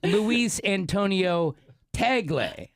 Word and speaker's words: Luis Antonio Tagle: Luis Antonio Tagle, and they give me the phonetics on that, so that's how you say his name.